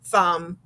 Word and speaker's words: thumb: okay see here's the i see the m so i know it's going to be south um thumb okay now here's the